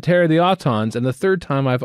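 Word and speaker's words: Aton: uh Terror of the autons episode 3 in three two 1 play uh one friend of mine his last name was well pronounced auton but spelled a t o n right and uh first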